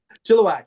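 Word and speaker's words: Chilliwack: In in beautiful and spacious Chilowak, Canada. Is that how you pronounce it? Chilowak. Yes.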